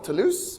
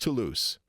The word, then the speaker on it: Toulouse: The way he pronounced Toulouse in French, it's t o u l o u s e. In French, o u is ooh ooh, it's the same ooh that you have in Spanish or Italian.